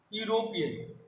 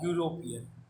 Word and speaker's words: European: For example, you see here European beginning with vowel word, but its pronunciation is consonant. Yeah, European.